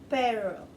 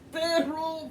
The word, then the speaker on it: perro: No, it's perro, for the love of Christ. Perro. I know, you can't roll your R's, but damn it, at least try.